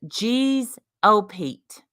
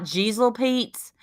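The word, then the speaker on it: jeez o Pete: this hey stupid Amanda the phrase that you use and I've heard it is geez oh Pete it's G's j e e z o Pete stupid now you can spell it with a G which is how it's commonly spelled it's not jesel Pete's it's not jezel Pete's it's not Gisele me peace it's G oh all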